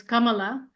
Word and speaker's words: Kamala: point out Kamala um the way we pronounce it in India it's Kamala and um she's the her name is my grandmother's name same my grandmother's name was Kamala and so she says